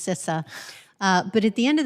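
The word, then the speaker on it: CISA: sis is what cis is how to correctly pronounce sissa but at the end of the day i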